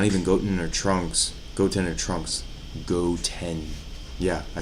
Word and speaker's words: Goten: Goten.